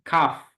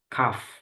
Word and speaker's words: cough: headache headache yang ini Kaf Kaf Kaf jadi enggak gh-nya enggak dibaca tapi Kaf KF jadi kayak gini ya